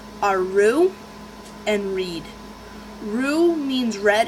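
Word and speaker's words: Roux: they their names are Rue and Reed Ru means red in French and it has a silent X at the end so people might pronounce it Rooks or yeah Roots Rooks yeah with the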